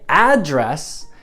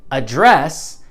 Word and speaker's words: address: Because in the United States, that's where I'm from, we say address, and that's a noun, but we say address, and that's a verb. It's not true. If it's a noun, Americans say both.